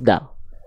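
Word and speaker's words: دال: Hua Min ulyanaya ya ujung lidah kita disentuhkan dengan pangkal gigi Sari atas kita ya kalau kalau enggak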